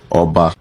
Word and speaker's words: Oba: they have their different titles, and it is pronounced Oba, just like having 50 governors in a room with their different names respectively, but describing them in their position.